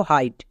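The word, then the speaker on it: height: জি এইচ যেমন দেখো হাইট এখানে আই আছে এবং আই এর পরে কে আছে জি এইচ এক্ষুনি তো রুলসে বলে আসলাম আই এর পরে জি এইচ থাকলে জি এইচ সাইলেন্ট তাই এখানে কার্ড উচ্চারণ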